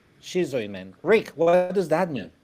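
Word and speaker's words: Schizoid Man: And uh John I have been I had been pronouncing the name skisoid man but you just said shizoid man. So it how how is it man? Shizoy man.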